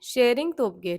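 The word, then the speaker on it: Tshering Tobgay: prime minister बने हैं शेयरिंग तोप ग ठीक है यहां पे टी साइलेंट है नेक्स्ट है हमारे रा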